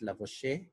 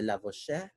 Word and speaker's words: Lavoisier: Iba-iba po ng pronunciation. Meron pong Antoine Laurent de Lavoisier, Lavoisier. Bahala kayo kung anong gusto yung tawag. Okay? Ganun po yung pronunciation ng iba't ibang. Iba-iba kasi teacher ko before, ang basa nila dyan, Lavoisier, Lavoisier. It's up to you.